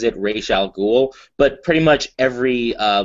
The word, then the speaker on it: Ra's al Ghul: orig Janice O'Neal the creator of Ral ghoul pronounces it Ral ghoul but pretty much every uh live media adaptation Batman the Animated Series has pronounced it RZ elol I think Batman Begins pronounced it R did